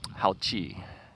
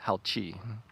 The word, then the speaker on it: Haoqi: do you guys call it and they said howchi yeah um so yeah uh they they wrote it in Chinese I gave it to my sister-in-law and I asked her how do you pronounce it she says howchi okay which basically means um good ride or